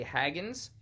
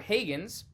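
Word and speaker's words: Hagins: it now the director Emily Haggins or Hagens however you want to pronounce it is h-a-g-i-n-s she has written and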